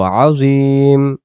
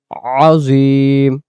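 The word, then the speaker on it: عظيم: একটু টান দিয়ে বলবো আজিম, আজিম। এবং এটা আইন অক্ষর আজিম উচ্চারণ। সুবহানা রাব্বিয়াল আজিম, সুবহানা রাব্বিয়াল আজিম।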